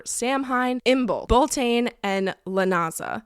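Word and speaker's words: Lughnasa: Hine imel bolane and Lena which is spelled like lasagna l u g h n a s a that kind of looks like lasagna there's a siren going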